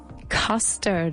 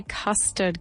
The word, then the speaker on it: custard: Custard. Remember, we say custard, guys. We don't say custard. Cuidado con la U, la pronunciación de esta palabra.